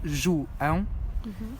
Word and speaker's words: João: If there's an A with the till and an O, it's ão. So that's how my name is pronounced. It's João.